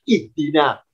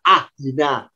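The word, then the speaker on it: اهدنا: Kenapa kita terbiasa bacanya ihdina? Kok tidak ahdina? Kok tidak uhdina? Ya, karena huruf ketiganya kasrah. Karena dalnya kasrah, alifnya ikut kasrah. Maka kalau diharokati alifnya harakatnya kasrah berbunyi ihdi.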